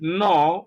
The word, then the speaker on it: gnaw: Now take note that the G is silent. You may have the letter G in certain words, but it is not pronounced. And such words include gnaw, which is GNAW, nat, GNAT, nash, sign,